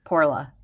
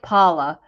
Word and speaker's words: Porla: It's Porla. I hope I'm saying it correctly because she did spell it out for me. Porla. It sounds like, it looks like Paula, but it sounds like Poorla.